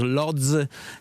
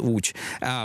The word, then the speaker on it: Łódź: Let us say about the perspective of Łódź, the city that is called as Lodz in English. It is properly pronounced Łódź, the town 130 kilometers from Warsaw, and we are in the middle of implementing the strategy.